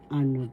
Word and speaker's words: ano: the examples or halimbawa ano po ano po that means please pardon me first syllable a second syllable no ano the second syllable has the accent so you pronounce this